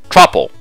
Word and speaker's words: Truple: Pronounced like mouthful. Truple.